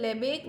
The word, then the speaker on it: Lebesgue: இதை வந்து லெபேக் மெஷர்ன்னு தான் ப்ரொனவுன்ஸ் பண்ணணும். இதில் வந்து எஸ்கியூ அதெல்லாம் வந்து சைலண்ட்டு.